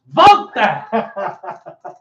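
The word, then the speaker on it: Gunther: name back to walter it's pronounced vodka so you spell it with a v goddamn breaker and eddie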